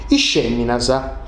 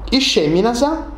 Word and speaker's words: is feminas: Sa essa e sa effa, candu sa tovianta, fainti su sonu sh, besidi sonu sh. E dunque sa besidi isceminasa. La vai, isceminasa, nosu du intendeusu meda,